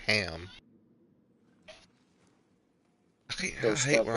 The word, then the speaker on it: Arkham: That's how it's pronounced. Arkham. Arkham.